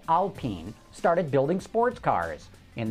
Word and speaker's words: Alpine: know the name looks like it should be pronounced Alpine but the proper pronunciation is Alpine the Michigan State Police evaluated cop cars from